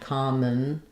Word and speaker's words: commentary: So I write that as common, in or un, common, or just thinking about it as kind of an N sound, commentary.